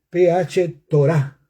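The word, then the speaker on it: φθορά: La palabra esclavitud de corrupción en griego es PH Torah, con acento en la A.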